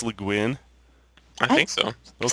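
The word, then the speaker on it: Le Guin: Is that how you pronounce LeGuin?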